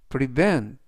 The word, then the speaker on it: prevent: 되겠습니다 이번 단어는 prevent prevent prevent라고 발음하시면 되겠고요 이때 강세는 V 뒤에 있는 이의 강세가 있습니다 그래서 prevent라고 발음하시면 좋겠고요 품사는 동사 뜻은 막다